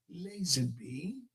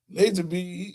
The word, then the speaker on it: Lazenby: Fred Lazenby. Did I say it right? He got it down. I couldn't say it. He's Lazenby.